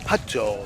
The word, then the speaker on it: Hutto: Hutto, that's pronounced Hutto.